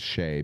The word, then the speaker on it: Shai: Not only do they have arguably the MVP of the league, I call him Shy, even though his name is Shea because it's spelled Shai.